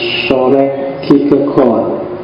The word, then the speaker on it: Søren: Kalau pakai lidahnya orang sana biasanya membacanya agak bulat di belakang jadi soreg jadi rodo masuk ke kerongkongan suaranya. Jadi jadi O bukan A.